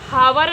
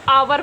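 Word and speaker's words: hour: इसी प्रकार से इसको हावर नहीं पढ़ेंगे, लिखा एच है, कॉन्सोनेंट है, तो इसको हावर नहीं, इसको आवर पढ़ेंगे।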